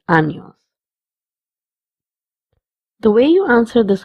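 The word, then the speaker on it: años: The little squiggly line on top of n makes that n sound as near instead of n. Hence the sound of this word is anos.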